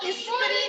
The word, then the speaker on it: स्त्री: स्त्री, स्त्री क्या है इसकी प्रोनाउंसिएशन, नो, स्त्री नहीं होता है, प्रोनाउंसिएशन क्या है, स्त्री। आधा स शुरू हो रहा है ना, तो आप भी आधे स से ही बोलोगे, स्त्री।